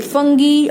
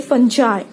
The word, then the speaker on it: fungi: You can even say fungi or you can say fungi.